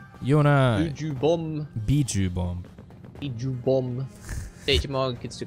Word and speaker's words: Biju: Biju, not Buju.